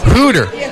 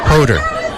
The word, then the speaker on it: Hodder: You gonna say my name correctly? Kane Hodder. Hodder. Pronounce it for me. This is great. If it was 2 T's, Hodder. What would you say? Hodder. So it's Hodder. Of course it is.